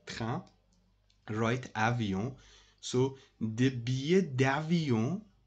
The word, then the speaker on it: billet: So, billet means, don't pronounce like that, billet. Billet is not correct, guys. Billet, billet. This is I. Whenever you have these four letters in a word, you must pronounce like that. Ie, ie, ie, like billet.